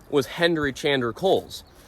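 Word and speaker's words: Cowles: name was Henry chander Coles spelled c-o-w-l-e-s but pronounced Kohl's Kohl's was born in Kensington Connecticut in 1869.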